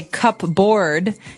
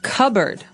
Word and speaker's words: cupboard: So, you might want to say cupboard because it's cup c u p b o a r d. That's not right. The word is pronounced cupboard.